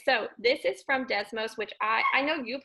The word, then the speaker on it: Desmos: i always butcher this desmos i think it's pronounced desmos okay good i'm getting some thumbs up thank you all right so this is from desmos which i i know